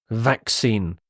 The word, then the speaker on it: vaccine: the next word is vaccine vaccine again the pronunciation is tricky here the first C is a hard C Sound whereas the second C is more of an S sound well it is the